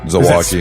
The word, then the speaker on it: Zilwaukee: I know the Zilwalk Bridge and then Zilwaukee, spelled like Milwaukee but with a Z.